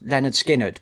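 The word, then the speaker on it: Lynyrd Skynyrd: So my pick is pronounced Leonard Skinnerd by Leonard Skinnerd.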